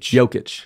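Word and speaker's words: Jokić: whoa front runner for this year's MVP Nicole yic but yeah man world champions right there in Denver and that's the right way to pronounce it yic yic okay The Joker but it's joic j i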